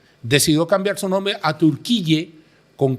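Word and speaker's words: Türkiye: fortuna no por ejemplo Turquía que en inglés se escribe Turkey decidió cambiar su nombre a turqui con k i y y e para diferenciarse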